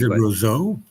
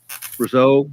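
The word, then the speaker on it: Rousseau: How how do you pronounce his name? You might know it better than me. Rozo. Roso. Gingjac. Rozo. It's French. I'm not good at French.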